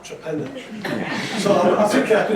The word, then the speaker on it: Torpenhow: I was more worried about the pronunciation of it, because this is a county that calls Torpenhow Trepenna.